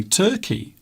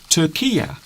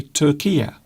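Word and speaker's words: Türkiye: people from now on should not say Turkey. It should be Turkia. So Turkia is how most news presenters will pronounce the name of that country. So instead of saying Turkey, they say Turkia.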